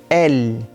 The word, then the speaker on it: elle: Mas elle, a gente começa a perceber outra especificidade da língua francesa. O é no fim de palavra normalmente não é pronunciado. Existem as exceções, mas o L não é uma delas. Então presta atenção que a pronúncia para no L, né? L, L, L.